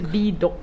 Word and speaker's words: Bedok: Even no matter how hard you try to phonetically spell it. Yeah, it doesn't work. It's bedok.